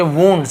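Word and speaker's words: wounds: क्या होता है, घाव, इसे बहुत से लोग वाउंड भी पढ़ते हैं, लेकिन ये जो प्रोनाउंसिएशन में चाहिए कि वुंड्स ऐसे होता है, वुंड्स यानी घाव, घाव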